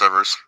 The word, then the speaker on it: Evers: it's not it's not Ellen. Maybe I'm wrong. It's definitely Medgar, but I thought it was Evers, but there was a V in there. So fact check us. Or we could be saying it wrong. But Oh no, you're right. It's Evers.